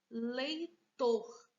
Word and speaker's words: leitor: Agora, nós temos a próxima palavra, a palavra leitor. Leitor. Qual é a sílaba que a gente pronuncia com uma soça? Leitor. Ó, tor. É a última.